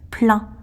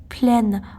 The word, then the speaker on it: plein: Oui, je sais très bien que le mot se prononce plein. Mais lorsqu'il s'agit d'une voyelle après, ça se prononce pleine, en plein hiver.